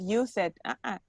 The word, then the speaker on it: used: Use for present and for past is not used. Used. It's like a T at the end.